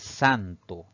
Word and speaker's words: santo: Si dividimos en sílabas, pues tiene dos sílabas. La mayor fuerza de voz recae en la penúltima sílaba contando de derecha a izquierda. Es una palabra grave, no va a llevar tilde porque termina en vocal.